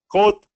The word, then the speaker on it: quote: Quote. Quote. Not bad. Let's make it easier. Don't let the spelling confuse you. Try this. Coat, quote. Quote. Quote. Yes, that sounded better. And Quote, same pronunciation.